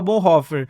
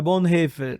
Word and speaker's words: Bonhoeffer: Eu falava até agora, acabei de mudar. Bonhoeffer, mas não é Bonhoeffer. Eu aprendi essa, um abraço aqui pro Teologia do Alemão, o Alex Staunhofer, é amigo meu. Quase fala em línguas, gente. Doutor em teologia, um abraço a ele me ajuda nessas pronúncias. Então, eu falava Bonhoeffer, ele falou, Luiz, não, é Bonhoeffer. Bonhoeffer.